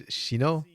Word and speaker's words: Shino: So, like, somebody I've been calling Zino the entire time. Turns out it's Shino.